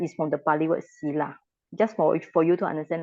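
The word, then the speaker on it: sīla: Tila is from the Pali word Sila.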